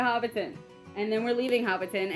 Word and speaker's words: Hobbiton: walk in middle-earth we're going to hop town I said it wrong okay we're going to Hobbiton and then we're leaving